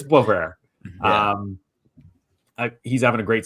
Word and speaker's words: Boisvert: I get caught sometimes when I will say a French name kind of French and it's not pronounced that way. But I think it's Boisvert.